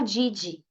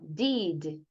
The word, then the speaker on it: did: work as a nurse Só toma cuidado com a sua pronúncia para você não falar did né porque brasileiro gosta de falar did presta atenção tá bom fala assim ó did did did you work as a